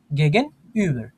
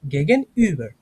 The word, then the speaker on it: gegenüber: দি বাঙ্ক ইজ গেগেন Uber হ্যাঁ, দেয়ার post. হ্যাঁ। আপনি এই যে আরটা শেষে একটু ভালোভাবে উচ্চারণ করতে পারবেন, কোনো সমস্যা নেই, হ্যাঁ? হ্যাঁ, দি ব্যাংক ইজ গেগেন ইউবার there post, গেগেন ইউবার, ঠিক আছে ভাই?